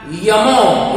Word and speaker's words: Jomo: They use the pronunciation Y for the alphabet J in some cases.